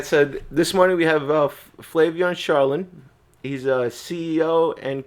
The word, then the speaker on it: Flavien: Flavian. Am I pronouncing it right? Yeah, that that's about right. Like Flavian usually said you got a lot of chicks with that name, didn't you?